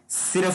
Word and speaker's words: SERU: नाम उन्होंने SERU यानी सीरू, कुछ लोग इसको सैरू भी कहते हैं, लेकिन मेरी नजर में इसका प्रोनाउंसिएशन सीरू बनेगा, तो सीरू का उन्होंने आगाज किया है।